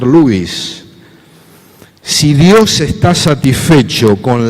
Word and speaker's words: Lewis: terminar dice cs lewis o lewis como pronunciamos aquí pero en realidad habría que pronunciar louis si dios está satisfecho